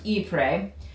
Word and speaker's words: Ypres: And if you look at it, it's kind of spelled funkily, you know, by the way you say it, but it is pronounced Ypres.